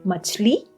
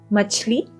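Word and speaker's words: मछली: We have machli, which is a fish. Machli. The sound is ch.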